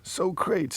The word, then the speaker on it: Socrates: One of the finest films ever made, in which Socrates is has his name hilariously mispronounced by Bill S. Preston. Bill S. Preston Esquire and Ted Theodore Logan as Socrates. Socrates, it is, I can reassure you, without the